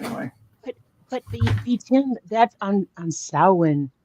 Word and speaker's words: Samhain: But B10, that's on Samhain. Samhain is how most people pronounce it, but Samhain is when the veil gets thinner.